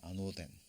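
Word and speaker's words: ἄνωθεν: 근데 이 거듭난다라는 의미가, 자, 오노로는 아노덴이라고 읽습니다. 아노덴. 근데 이게 처음부터 다시 새로이라는 의미도 있지만 가장 중요한 게 바로 이 부분이에요.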